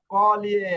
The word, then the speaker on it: cogli: stesso e no cogli কগলি না, কলিয়ে। আমি গত ক্লাসে বলছি না, এই যে GLE, এটা লির উচ্চারণ হবে, এখানে গড় উচ্চারণ আনলেন কেন?